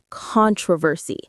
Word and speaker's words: controversy: Stir up controversy. The stress is on stir and the first syllable of controversy.